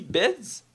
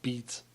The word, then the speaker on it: Beetz: Et finalement, c'est Zazie Beetz. J'ai bien dit. Ah, j'imagine. Je sais pas si je le prononce mal, mais c'est Ben, nouveau. depuis qu'il y a deux E, ça doit être Beats.